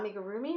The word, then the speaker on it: amigurumi: - indole anyway I love the amigurumi I make a roomie is how you pronounce it um crocheting in the round I